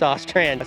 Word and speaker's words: Ostrand: I always want to say Orand, but I'm pretty sure it's Ostrand.